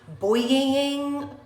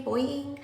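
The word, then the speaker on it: Boi-ing: The Benefit Cosmetics, I don't know how to say it again, Boying, B-O-I-I-N-G, Boying.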